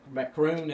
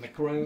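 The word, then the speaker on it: Macron: it personally that they did this and when macaron is that how you pronounce his name Macroom that chrome macaron you know when he called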